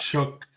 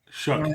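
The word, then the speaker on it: Shough: I think the quarterback you're talking about is Shook. Shook. Shook. Yeah, I spelled it wrong and pronounced it wrong.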